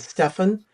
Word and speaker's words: Stefan: his brothers Taylor and Stefan uh rhymes with muffin as it was mentioned